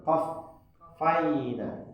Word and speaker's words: qaffayna: Letak penekanan itu pada huruf fa-nya, qaffayna.